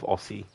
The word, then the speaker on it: Aussie: But yeah, even though it's double S, when we say it, it's um actually pronounced as if you're saying Z. So Aussie instead of Aussie.